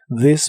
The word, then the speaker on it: this: La TH de this se pronuncia como una D vibrante. This morning, this morning.